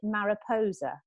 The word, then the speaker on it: Mariposa: i'm from the wiltshire area uh but kate pronounces it mariposa okay so it's m-a-r-i-p-o-s-a you pronounce how you want you'll still take